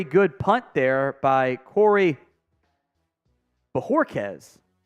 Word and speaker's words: Bojorquez: That may not have been a very good punt there by Corey Bojorquez. It's B-O-H. Bojorquez. I'm going to say it like that.